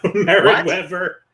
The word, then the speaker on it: Merritt Wever: But Angela Bassett, they mispronounced her name twice. And I'm like, no, stop that. Ingenue Merritt Wever. Wever, yeah, Merritt Wever.